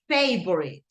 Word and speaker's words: favorite: Remember, the pronunciation is favorite, como Facebook, favorite, okay?